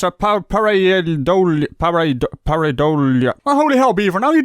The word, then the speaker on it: pareidolia: well how do you pronounce Powerade olya that's pronounced pareidolia huh hotel you go beaver I even got